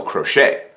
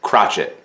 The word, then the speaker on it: crochet: for hundreds of years it's called a crochet it's French or if you don't like the French pronunciation you could call it a crotchet but it the crochet